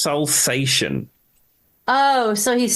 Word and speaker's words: Salsation: And this song is Salsation, or I however thought you it want was to pronounce salsa station, like salsa. It's like it looks like Salsa Station, but I think it's Salsation.